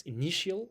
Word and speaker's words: initial: It's initial. It's an adjective. It's the second stress at the second syllable is stressed.